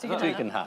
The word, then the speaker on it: Tugendhat: How do you say it? Tugendhat? Tugendhat. Yeah.